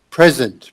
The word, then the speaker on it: present: Present. Present. Okay. An adverb or an adjective. So then it's pronounced present. Yes. But then, when it's a verb, then it's present.